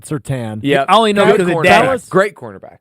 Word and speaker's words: Surtain: Spelled like Surtain, said Surtain.